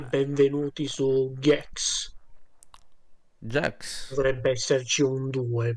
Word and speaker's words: Gex: è gex 2 ma non si dice G come gex 3D o semplicemente Enter The geeko Ma si chiama jax gli do la pronuncia inglese gex ma è meglio jax secondo me gex Vabbè allora iniziamo sì